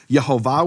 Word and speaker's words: Yehovah: Yehovah with the full vowels. That was known to be the pronunciation of his name.